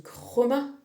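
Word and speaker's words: χρῶμα: latin en tout cas le grec couleur ça se dit chroma et surtout avec une espèce de aspiré où tu entends finalement plus romain ça te parle ou pas ?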